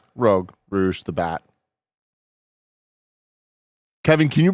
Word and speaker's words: Rouge: I did there yeah I didn't who's the rogue rogue Rouge the Bat Kevin can you bring up Rouge the Bat Rouge is spelled like Rogue kind of I [ __